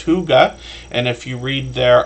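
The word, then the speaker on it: Hygge: see that channel h y g g it's pronounced Huga and if you read their about page you'll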